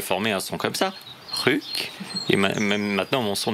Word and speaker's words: sjuk: Chouk. Alors voilà, SJ se prononce Chouk.